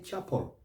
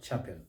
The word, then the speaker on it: chapel: end that syllable but the e is not pronounced leave it out so we say chapel not chapel gospel not gospel novo